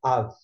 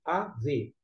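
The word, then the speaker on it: אב: A palavra pai em hebraico é av, isso mesmo, A-V, o soneto A e V, av.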